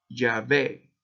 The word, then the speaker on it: Yahvé: este significado, que es Yahvé o Yahweh, Yahvé. Y ese significado, al uno respirar, lo pronuncia de acuerdo a estos escolásticos judíos. Al inhalar, ya, y al exhalar, we, ya, ve, ya, we, ya, ve.